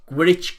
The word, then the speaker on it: Gwrych: Number 33, I'm not going to pronounce this right. It's Gwrych Castle.